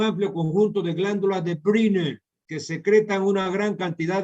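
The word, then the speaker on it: Brunner: Briner, o sea, una U con diéresis, es una palabra alemana, ¿no? ¿Verdad? Entonces, la pronunciación entre U y I. Entonces, Briner, que secreta una gran cantidad de moco alcalino.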